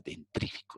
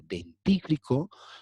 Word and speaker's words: dentífrico: dental con un dentífrico no se dice dentífrico se dice dentífrico Sí eso dura pues